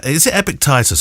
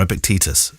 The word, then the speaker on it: Epictetus: is one thing that epic titus or epictetus epic tide pronounced titus Epictetus said about acting on